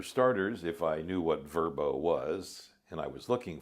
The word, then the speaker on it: Vrbo: So VRBO is now going to be Verbo.